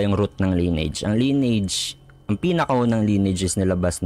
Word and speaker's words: Lineage: Kung babasahin mo kasi ng literal line age yan no? Linage pero ang pinakatamang pronunciation is lineage.